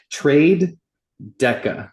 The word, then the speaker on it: TraDeca: It's trade Deca, Deca being 10 or whatever, like 10 pips, that foundational concept.